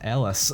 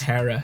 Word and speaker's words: Harris: pronunciation in the dub they kept calling her like Ellis and but then like when you got her name revealed it said Harris that's Harris and I was like